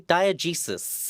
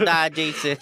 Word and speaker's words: diegesis: we're talking about a word that I will pronounce correctly: diegesis. Isn't that guy that threw that chicken at Socrates? Diegesis, not diegesis.